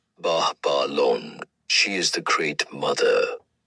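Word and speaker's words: Babalon: B A B A L O N pronounced Bahalon.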